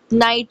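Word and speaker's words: knight: नाइट और never में के जो है वो स्टार्ट में ए रहा है लेकिन उसे साउंड होता है साइलेंट की कसम इसी वजह से नाइट उसको पढ़ा जाता है और नेवर के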